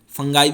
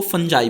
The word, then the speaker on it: fungi: फंगी होती है वैसे, फंगाई भी बोलते हैं कुछ टीचर्स, कुछ इसको फंजाई भी बोलते हैं।